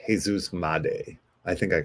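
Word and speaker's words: Jesús Made: M or made uh looks like Jesus made but that is not the appropriate pronunciation so I believe it's Jesus M I think I called him Jesus made when I first brought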